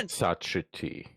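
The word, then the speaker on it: Ixitxachitl: Ixitsachiti. Yeah, it's exact. Yeah, it would be X, and then the TX would be T, like TZ.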